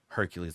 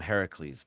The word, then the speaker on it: Heracles: Like the majority of the population is going to still refer to him as Hercules, even though that's not actually how you pronounce the name, right? But because of some bad transliteration way back and Disney movies, just it's Hercules, right? Hereafter. So I never call him Hercules. I call him Heracles.